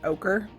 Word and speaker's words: ochre: you say that hey I looked it up and it says it's pronounced ochre I'm not sure guys